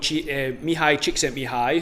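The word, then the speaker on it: Mihály Csíkszentmihályi: So it was discovered by someone called Mihai Csikszentmihalyi, who was a Hungarian psychologist.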